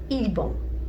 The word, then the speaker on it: 일본: Japon is pronounced ilbon.